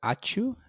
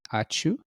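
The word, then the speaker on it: ačiū: sent, like thank you, it also has that ch sound, achu. And one more, it's probably zh, so like a z. So that's also achu. a longer pronounced. Achu is like Prasham. it's like a sneezing sound, right? Achu. It's like apchu, but without a p.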